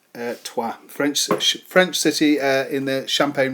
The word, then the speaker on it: Troyes: I know it says it's looks like it says Troyes, but it is pronounced Trois.